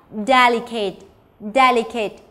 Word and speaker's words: delicate: Và delicate. Như vậy, các em có thể quan sát mình có đáp án D bởi vì trọng âm nhấn vào vị trí số 1.